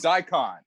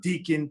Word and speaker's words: Daikon: And it's funny, before we started shooting, no one really knew how to pronounce the name. So, you know, people were saying Deacon, people were saying Dickon, people were saying all types of wrongness.